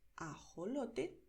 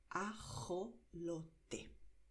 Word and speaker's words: ajolote: Entonces, suave, ajolote, fuerte, ajolote, ¿vale? Son dos maneras y las dos son correctas. La diferencia es un poco regional.